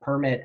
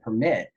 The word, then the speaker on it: permit: Now, permit has two pronunciations for most of us, right? Because we have permit and permit.